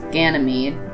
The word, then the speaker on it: Ganymede: Thea is Thea, Phobos is Phobos, Deimos is Deimos, Metis is Metis, Amaltheia is Amalthea, Thebe is Thebe, Ganymede is Ganymede, Elara is Elara, Eupori or Euporia is Eupori, Calicor is Calicari, Iapetus is Iapetus, and I'm not doing the moons of Neptune.